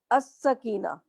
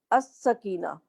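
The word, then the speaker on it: السكينة: लाम लगा हुआ है अस सकीना या मैं पढ़ रही हूं अस सकीना अरहमा इसे मैंने पढ़ा अरहमा अल मला इसे मैंने प्रोनाउंस किया अल मलाइका तो क्या फर्क नजर आ रहा है आपको इन दोनों लफ्जों में लाम नहीं पढ़ी और अल मलायका में मैं लाम पढ़ रही हूं जहां मुझे लाम नहीं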